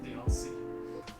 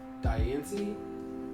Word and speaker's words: Diancie: That's that rock thing, that rock fairy that you could do the event that turned into Deontay. What? Deontay, like the fairy rock. Diancie?